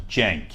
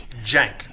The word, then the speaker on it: Cenk: okay great question Steven so see e NK is pronounced in Jeng Jeng yeah this sounds like a J like short for Jenkins okay so it's a